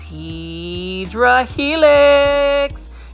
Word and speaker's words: Hedera helix: Now, for those that are new to the channel, hopefully it don't scare you in the way I pronounce Hedera helix, which is actually the correct way to say it.